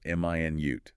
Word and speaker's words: minute: This one depends on stress, right? Stress on the first syllable. M i nute. That's the unit of time 60 seconds. Stress on the second syllable minute. That's the adjective meaning very very small tiny.